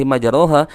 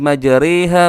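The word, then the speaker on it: مجريها: qala rakabu fiha bismillahi majaraha. Akan tetapi para ulama menjelaskan itu adalah bagian bacaan imalah. Maka cara membacanya yaitu cenderung miring, cenderung kasrah, cenderung berbaris bawah. Maka dibacanya wa qala rakabu fiha bismillahi majariha wa mursaha.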